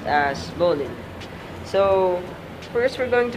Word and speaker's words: bowline: So it's spelled as bowline but pronounced as bowline.